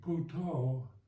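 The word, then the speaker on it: พุทโธ: to mindfulness is using puto the Thai kind of pronunciation for Buddha a kind of Mantra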